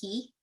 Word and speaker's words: Caye: They call them Key, but it's spelled Caye.